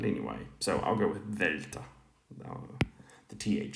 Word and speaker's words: Δέλτα: modern pronunciation right now so the modern pronunciation for this is um the the like the English word the so this would be Delta right um whereas In classical times it was D like dark um but anyway so